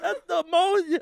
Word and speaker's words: pneumonia: up and he's like theonia oh my gosh oh no language is so weird writes who makes a word with a silent P oh no but until